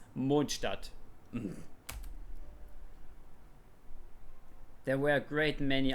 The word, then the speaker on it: Mondstadt: And yes, I pronounce it Mondstadt because that's how it is pronounced. It's Mondstadt.